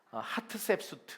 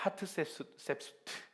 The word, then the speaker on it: 하트셉수트: 사진을 띄워주시면 이게 누구냐면 하트셉수트. 한번 따라해볼까요? 하트셉수트. 자, 따라해보세요. 하트셉수트. 네, 발음이 좀 쉽지 않습니다, 한국 사람에게는.